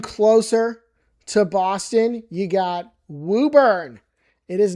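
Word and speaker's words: Woburn: It is not Wurn right there off a 128 sitting there in traffic hell. It's Wooburn. So the O is kind of like another U. I don't understand it either, but that's how it's said.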